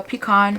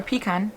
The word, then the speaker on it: pecan: And you can see in the clip how I applied the pecan, or pecan, depends on how you pronounce it, on my lips.